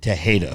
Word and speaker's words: Tejeda: Okay, so I'm going to pronounce it Tejeda from now on because there is an E in there.